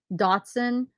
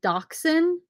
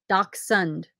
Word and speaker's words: dachshund: was dash hound and then i thought it was i can't even remember how this worked now datsun but it's dachshund dachshund and somebody said it's german so how's this doc sund am i saying it right let me know i'm